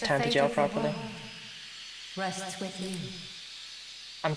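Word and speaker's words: Tantegel: You must make for Tantacha. You must do all that you can. So glad they pronounced Tantaja properly.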